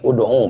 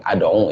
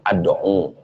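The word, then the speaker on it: ادعُ: Nah, ayat Al-Quran lain umpamanya ini, dalam surat Yusuf, Qul haza sabili, itu bukan ud'u bacanya, tapi ad'u ya. Yang baca tadi, siapa tuh? Bacanya tuh ad'u.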